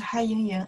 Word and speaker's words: 还: In that case, they pronounce 还, 和, 乌, 安, 还, H-U-A-N, 还, second tones.